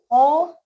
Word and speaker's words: hoe: Okay, second one is hoe. We pronounce it as hose, last में e भी आएगा, ठीक है.